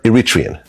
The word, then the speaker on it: Eritrean: So you're Iritrian. Mhm. Wow. You pronounced it right.